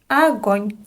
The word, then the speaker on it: огонь: Огонь. Again, we have unstressed O here, so we pronounce it as a.